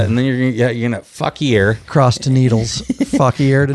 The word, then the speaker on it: Fauquier: end up in that Fuckier. Yeah. And then you're going to Fuckier. Cross to Needles. Fuckier to Needles. I don't think it's called Fuckier. Probably Fuckwar.